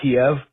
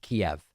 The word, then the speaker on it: Kiev: It's spelled Kiev and it's pronounced Kiev.